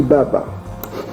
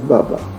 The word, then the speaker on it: Baba: ici, ça se dit Baba. En fait, ça vient Abba. Donc, vous voyez, ils ne prononcent pas les premières lettres là, on met Ba et on prononce Baba.